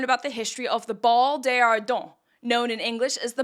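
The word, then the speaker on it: Bal des Ardents: going to learn about the history of the ball deardon known in English as the ball of the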